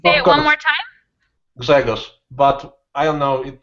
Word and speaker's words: Grzegorz: New student whose name I'm going to have a lot of trouble pronouncing. Is Yeah, I it know. Gregor or Grzegorz?